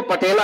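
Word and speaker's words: patella: वैसे टेला कहते हैं, लेकिन हम लोग हिंदुस्तानी कैसे भी प्रोनाउंसिएशन करें, पटेला है ये।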